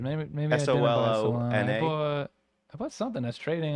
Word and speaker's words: Solana: And if am I saying it right? Solana? Yeah, Solana. Yep.